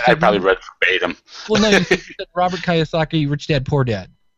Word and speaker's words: Kiyosaki: name yeah that i probably read them robert kiyosaki rich dad poor dad like it was like